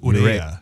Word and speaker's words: Urrea: It's Urrea. Yeah. It's technically, it's pronounced Urrea.